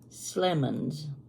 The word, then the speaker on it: Slemons: My teacher was Bess Slemons, rhymes with lemons.